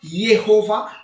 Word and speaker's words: Jéhovah: Jehovah ou Jéhovah, en français comme on prononce, Yehovah comme en hébreu ou Yehovah comme en français.